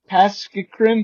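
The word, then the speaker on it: påskekrim: P A with wonky thing over it. S K E K R I M Pask grim.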